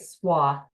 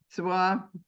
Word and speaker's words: Suau: introduce tonight's speaker, Suare. Sar, am I pronouncing your your name right? I should know by now between you and your father. You're doing great. Swah. It's easier than it looks. Suah.